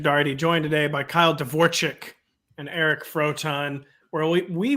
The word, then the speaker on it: Dvorchak: It's Dvorchak, right, Kyle? Right? It's more like an E. It's like an EK. Oh, you pronounce like ICK and it's like EK, but like I don't really care.